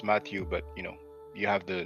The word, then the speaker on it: Mathieu: Now, Mathieu is what you pronounce Matthew, but you have the name written in the title.